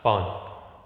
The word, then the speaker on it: pawn: यहाँ इसका जो प्रोनाउंसिएशन होगा वो प्रोनाउंसिएशन यहाँ पॉन, या वह जो साउंड आएगी पॉन।